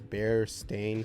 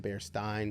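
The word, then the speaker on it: Berenstain: read would pronounced correctly I think honestly people just mispronounced it all the time because bear stain sounded weird and bear Stein sounded better but didn't bother correcting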